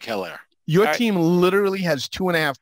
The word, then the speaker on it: Edwards-Helaire: Helaire. No, it's Helaire. You got to say it right. All right. And then everybody else. I like Helaire.